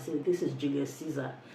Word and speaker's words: Caesar: we have this book I like pronouncing it in the Original Latin it's Julius kaisa so this is Julius Caesar it's a an Abridged